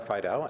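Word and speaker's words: Fiedel: that'd be helpful to our transcriber it's Fido f-i-e-d-e-l thank you thanks very much for uh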